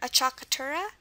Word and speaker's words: acciaccatura: And when we cover consonants, we'll see why this is pronounced acciaccatura in regards to the consonant sounds. We'll see that later, but regarding the sound, here we have the U for the sound.